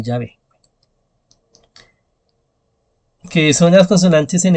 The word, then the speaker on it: Yahvé: Que son tres consonantes, ¿no? Y que si uno le pone pues las vocales, se puede pronunciar Yahvé.